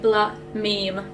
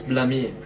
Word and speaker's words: Blame Me: pretty good yeah we we can now be bla meme yeah the correct way to pronounce it yeah if you ever wondered it's blaming not blame me like they're casual say